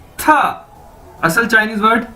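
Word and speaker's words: 他: तो दोस्तों उसके बाद हमारे पास नेक्स्ट वर्ड है TA, था। ये आप इसकी ब्रैकेट्स में प्रोनाउंसिएशन देख सकते हैं, यानी इसको कैसे बोलना है? था।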